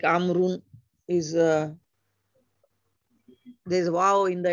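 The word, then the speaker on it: عمرو: the proper name Amru is written with a vowel, which is not pronounced. Amru. This is done to differentiate it from Umaru.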